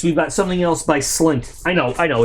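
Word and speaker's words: SLNT: got something else by slint i know i know it's they they want you to pronounce it silent i like calling it slint um so another faraday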